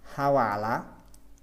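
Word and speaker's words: Hvala: হাওয়ালা, হাওয়ালা উচ্চারণটা হবে হাওয়ালা, হাওয়ালাও বলতে পারেন হাওয়ালা, হাওয়ালা তাকুজের, হাওয়ালা তাকুজের অর্থ হচ্ছে আপনাকেও ধন্যবাদ।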